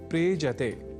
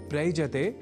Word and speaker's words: प्रेजते: दोनों के मेल से शब्द बनता है प्रेजते। प्रयजते नहीं।